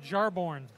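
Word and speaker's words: Jarnbjorn: It's pronounced Jarborn.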